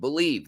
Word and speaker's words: Bleav: do it use our promo code believe that's on your screen right now it's spelled bleav at betonline.ag to get